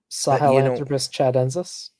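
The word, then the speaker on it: Sahelanthropus tchadensis: It's Sahelanthropus chedensis? Yes. It's spelled SAHELANTHROPUSTCHADENSIS.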